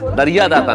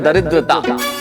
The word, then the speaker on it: दरिद्रता: दरिया दाता नहीं, इस शब्द का उच्चारण है दरिद्रता।